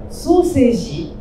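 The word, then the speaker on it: 双生児: Donc soseji, à l'oreille, ça se prononce comme sausage, donc saucisse en anglais.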